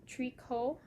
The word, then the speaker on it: Tricot: And the designer is Tricot. There's a T at the end though. T-R-I-C-O-T. Tricot Design MCL.